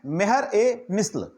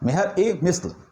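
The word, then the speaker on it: Mehr-e-Misl: इसको हम लोग उर्दू में बोलते हैं मेहर ए मिस्ल, मेहर ए मिस्ल।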